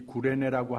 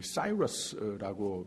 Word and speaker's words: 구레네: 이 구레네 시몬이라고 하는 소개가 됐는데, 이 구레네라고 하는 말은 이 사이러스라고 미국 사람들은 발음을 하는데, 사실 우리 구레네 한국 사람들의 발음이 원어하고 더 맞습니다. 구레네가 맞는 발음입니다.